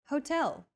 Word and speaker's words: hotel: esta san consola next hotel see that in portuguese h as the first letter is always silent except for specific foreign loanwords for a specific hotel